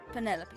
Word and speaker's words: Penelope: can be bothered with all four syllables of it Penelope sounds a little ostentatious